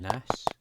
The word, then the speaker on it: Nas: So there's Nas, well it's Nis, I pronounce it Nis, but it's actually Nas.